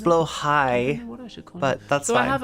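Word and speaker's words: Blåhaj: named my blahaj um I believe it's pronounced blow high but that's why I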